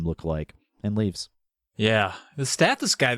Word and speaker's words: Stathis: The Stathis guy, Stathos? How do you say it? Stathis.